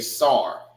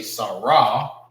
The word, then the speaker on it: Sar: It's connected together because it is pronounced together. Sar. All right. You will not say Sarah. It's Sar.